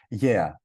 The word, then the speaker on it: Gaia: The restaurant is called Gaia, but it's different. In Greece, it means earth, and it's pronounced yeah.